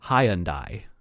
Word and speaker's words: Hyundai: british pronunciation option which apparently the british pronounce it high undie doesn't sound too bad hyundai hyundai hyundai high and i hyundai look if you really